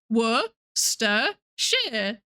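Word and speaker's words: Worcestershire: Worster sharers.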